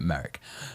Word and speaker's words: Maric: It should be Maric. He he pronounces it Merrick.